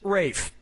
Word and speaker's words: Ralph: is yeah ray finds first name is spelt like Ralph but pronounced Rafe pronounce the things that